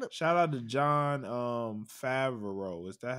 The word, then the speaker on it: Favreau: Shout out to Jon Favreau. Is that how you say it? Yeah, Jon Favreau.